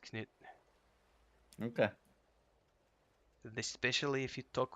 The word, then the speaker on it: Knut: It's Knut Orkbane. Yep, Knut. The K does need to be pronounced.